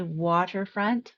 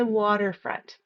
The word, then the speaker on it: waterfront: Another place that the pronunciation will change a little bit is in waterfront. I won't say waterfront. I change the T to a softer D sound, and I say waterfront.